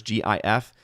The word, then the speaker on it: GIF: Hardwick says, I pronounce GIF as the individual levers GIF.